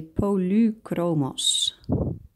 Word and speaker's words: Polychromos: Actually, if I pronounce it correctly, like the Germans would, then you would have to say Polychromos. Because that Y, the epsilon, they say U, not E. So not Polychromos, but Polychromos. And here I have another Polychromos earth green yellowish.